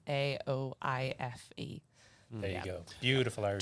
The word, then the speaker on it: Aoife: It's at Ethan McVeigh, but my name is spelt very different to how it's pronounced, so it's Aoife.